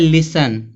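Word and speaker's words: listen: फिर यहां दिया है लिसन। ठीक है? अब इसको कोई लिस्टन नहीं पढ़ता है।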